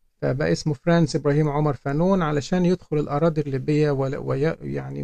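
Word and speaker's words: Fanon: لنيل درجه الدكتوراه وطبعا هو اسمه فرانس فانو لان هو بيكتب بالفرنسيه وثقافاته فرنسيه وحاصل على الجنسيه الفرنسيه لحد عام 54 حين تنازل عنها ولكن في عالم اللغه الانجليزيه في كتير بينطقوا فانون فرانس فانون في عالم اللغه الانجليزيه فانون ولكن النهارده انا يعني سالزم بنطق اسمه بالفرنسيه فرانس فانو و وتجد ايضا انه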